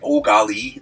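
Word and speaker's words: Eau Gallie: cool little area called oali uh which is French but it's it's pronounced think of yourself like an exasperated Canadian just like oali that's you're kind of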